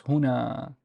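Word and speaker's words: هنا: I produce this is I would pronounce this is who who and the noon has nothing but there's an alif after it so it's hona hona uh the uh and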